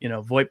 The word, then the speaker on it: VoIP: How do you pronounce Monster it? VoIP, yeah. Monster VoIP.